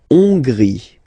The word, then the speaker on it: Hongrie: La Hongrie. So remember, H doesn't exist, so you don't pronounce it. So it starts with O-N, on, and then gris, final not pronounced.